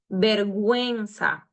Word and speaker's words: vergüenza: Look at here how I'm pronouncing the U because has the diéresis. Vergüenza. Quemar.